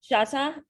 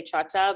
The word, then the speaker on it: Choctaw: is it cha chata chata is how you actually well most people is c-h-o-c-h-o-c-t-a-w how people normally say choctaw but within that's how it's spelled actually so that is your